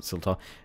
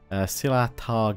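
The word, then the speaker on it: Silahtar: Oh, not Siltar. Silatar Guard. I always say these wrong.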